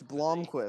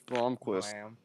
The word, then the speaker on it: Blomqvist: It's Blomqvist. This Porsche and this Cadillac at the Bloom. front, they are just so strong. It's Blomqvist.